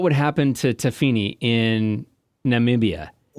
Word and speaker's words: Namibia: How do you pronounce it? Namibia.